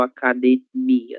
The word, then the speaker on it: academia: Você leu academia, né? O mi foi a sílaba mais forte que você pronunciou.